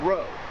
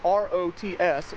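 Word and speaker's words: Rots: town right here this is the town of row uh it's spelled r o TS so an American redneck like me would have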